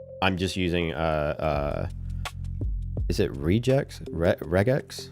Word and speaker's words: regex: It's it was just way easier to just for right now just use the regex or regex or however the fuck you say it. Hard G. Regex, deal with it.